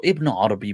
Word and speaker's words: Ibn Arabi: So his name also Ibn Arabi, pronounced without the alif lam, often referred to as Muhyiddin Ibn Arabi.